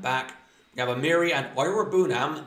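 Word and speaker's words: Iroegbunam: That is how you say it now, because he made his appearance for Villa against Man United over the Boxing Day. So, I know how to say it. I watched it live on Amazon, so I've heard the commentators. So, it's Ira Bunam.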